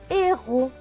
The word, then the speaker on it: héros: H avec E accent aigu. E accent aigu, c'est E. Le H ne se prononce pas, donc c'est juste E. R et O. Ro. Et le S à la fin est écrit en bleu, donc il ne se prononce pas. Donc ce mot va se lire et ro.